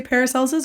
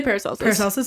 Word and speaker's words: Paracelsus: but do you say paracelsis or how do you say I say paracelsus yeah okay so he